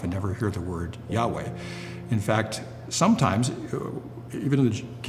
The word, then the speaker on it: Yahweh: And we don't know 100% sure what those vowels might be, but it's presumed that it would be pronounced as Yahweh.